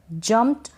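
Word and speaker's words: jumped: और जम्प्ड का मतलब होता है कूदना, जम्प्ड, जम्प्ड नहीं बोलेंगे, जम्प्ड। वैसे भी जब प्रोनाउंस करेंगे आप कोई भी स्पेलिंग बोलेंगे पढ़ेंगे तो सीखने के लिए आप जम्प्ड ज़रूर बोलते हैं, बट धीरे धीरे जब पढ़ते जाएंगे तो उसको जम्प्ड बोलेंगे। यानी ये जो ईडी है इसको ट पढ़ेंगे, वॉइसलेस पढ़ेंगे, थोड़ा कम साउंड आएगा इसका।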